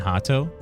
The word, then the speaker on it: Rato: But for some reason, the Brazilian pronounce R as H. Learn that in where Rhoda and Rato pronounce Hoda and Hato.